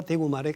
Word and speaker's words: 대구: 그런 차이가이 표준어와 서울말과 대구말의 큰 차이다 이렇게 생각하면 됩니다. 대구 사람들이 대구를 발음하는 걸 보면 네 대구 이렇게 하잖아요. 대구 대자가 강하고 높아요. 대구.